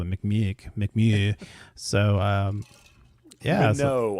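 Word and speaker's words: Mimieux: Minot, I believe is the way her name's actually pronounced.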